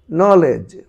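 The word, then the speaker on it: knowledge: তারপরে রয়েছে নলেজ, নলেজ, নলেজ।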